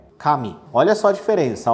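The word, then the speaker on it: 髪: por k e também por mi e a pronúncia da palavra é a mesma Kami E agora temos a palavra que significa Deus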